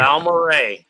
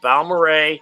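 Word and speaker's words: Balmorhea: it's Balmoray. I've gone Okay. scuba diving there. They have this like this Clear Springs scuba diving place. It's Balmoray.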